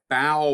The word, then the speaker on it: bow: These are wave barrier and a bow wave. This is pronounced bow because it's referring to the bow of a ship or the bow of a plane, the front of the plane.